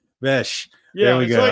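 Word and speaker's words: Bech: Bes. There we go. It's like, you know, the ch, but it's pronounced like bes.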